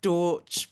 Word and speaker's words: Dautch: Um, Cherelle was asking me earlier before introducing me how to pronounce my surname, and I said Deutsch, but Deutsch, it doesn't really matter.